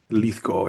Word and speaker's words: Lithgow: Lithgow, yeah, sure. That's exactly how you pronounce it.